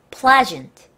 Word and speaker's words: pleasant: Pleasant. Pleasant. 따라할게요. Pleasant. 썬트가 아니에요. 이게 많은 분들이 전트를 읽는 거를 잘 모르시더라고요. 여기서 S는 전의 발음이 나요.